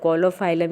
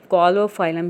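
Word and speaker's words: Caulophyllum: अगर आपको जो है वो प्रोनाउंसिएशन में अगर आप प्रॉब्लम हो रही है तो आप इसको कोलोफाइलम या कोलोफाइलम भी कह सकते हैं।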